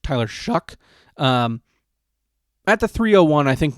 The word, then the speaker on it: Tyler Shough: think taking Tyler Shough, which is spelled like it's show, but it's pronounced Tyler Shough, at the 301, I think makes sense.